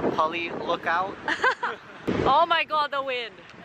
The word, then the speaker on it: Pali Lookout: How do you pronounce where we are? It's called Pali Lookout.